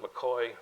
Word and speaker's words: McKay: what's his first name he pronounces it McCoy spells it McKay H John MC came